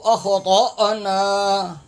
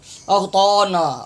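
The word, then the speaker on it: أخطأنا: ان نسینا او اخطأنا طالب زبر طا، یہ الف ہے یعنی حمزہ ہے، اس کے اوپر جزم ہے، اخطأنا نہیں ہے. اکثر حضرات یہ تلفظ انتہائی غلط پڑھتے ہیں، اغطانا اغطانا، طال زبر طا پڑھ رہے ہوتے ہیں،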